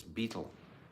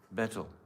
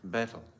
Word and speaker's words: betel: Some people try to say it's beetle.